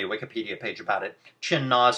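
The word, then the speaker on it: Qin Na: Chin Na is spelled Q-I-N space N-A, and they're both their own words, so it's like, capital Q, capital N.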